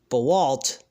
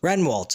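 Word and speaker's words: Rehwoldt: they come back on drama king matthew uh bewalt i forgot how to pronounce renwalt excuse me uh renwalt uh tonight he shares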